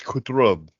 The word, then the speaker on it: Qutrub: Ooh, Yeah, so this one is spelled Qutrub, and if I pronounce it wrong, I'm terribly sorry, but from what I understand, it's Kutrub.